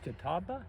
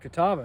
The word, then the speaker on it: Catawba: to spell the name of this town right pronounced is Kataba Kataba that's right yeah Kataba we did an all